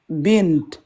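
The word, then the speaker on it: بنت: Et à l'arrêt, comment on va le prononcer? Bint.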